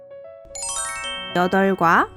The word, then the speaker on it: 여덟: 여덟과 널따는 어떻게 발음해야 할까요? 여덟과 널따로 발음합니다.